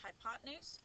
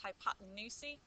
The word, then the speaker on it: hypotenuse: is called the hypotenuse it sort of looks like it says hypotenuse but that's pronounced hypotenuse and that's what we